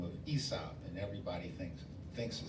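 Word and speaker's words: Aesop: it involves a gentleman by the name of ESOP and everybody thinks thinks the spell e is actually spelled with a capital a e s o p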